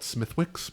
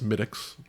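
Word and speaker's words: Smithwick's: A lot of people will call it Smithwicks because that's how it smelled. But it's it's smidics.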